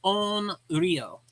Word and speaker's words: onryō: usually what are called onreo. Now there's different types of ureo. Onreo it would be spelled o n r y o. So on rio.